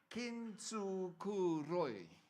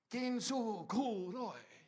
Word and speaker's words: Kintsukuroi: So I went and wrote this name down phonetically so I can say it correctly. Kintsukuroi. What does that mean? Japanese. I talk Japanese. When I tell my was, I talk Japanese. Kintsukuroi.